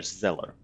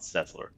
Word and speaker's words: Zeller: Dr. Zeller, not Zesler. Zeller. Or it would be Scheller. Zeller. Yeah, Zeller would be the correct way to say it.